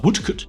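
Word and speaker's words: Woodcote: Uh Woodcut is how you pronounce this.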